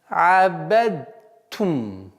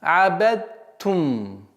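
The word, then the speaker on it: عَبَدْتُمْ: Абад, вместо произношения буквы даль мы произносим букву та. То есть как? Язык мы поставляем на местонахождение даль, так как у букв даль и та схожее местонахождение, но в окончательном результате мы произносим букву та. Ма абадтум. Абадтум. Даль полностью ассимилируется в букву та.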